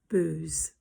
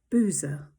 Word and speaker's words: Booz: verse five it says salmon begat booze b double z in modern translation that is translated to boaz so we pronounce it differently but it was definitely b double o z except in my head